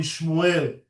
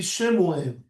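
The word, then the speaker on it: שְׁמוּאֵל: Hebrew, everyone in Hebrew, because they're not very precise in pronouncing my name, they call me Shmuel, right? But the sheen at the beginning of my name has a shiva, and it should be Shemuel. That's the proper way to pronounce Shemuel, Shelomo, because the shiva at the beginning of the word is a vowel, acts like a vowel. It's an e. So Shemuel, Shelomo, right? And not Shmuel or Shlomo.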